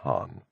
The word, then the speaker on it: Khan: Though it is worth mentioning that they have no K sound. So that Khan would be said as Han.